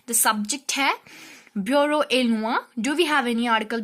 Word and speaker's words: le: Lo. Lo. L-E is pronounced as lo in French, which is basically used before the masculine singular.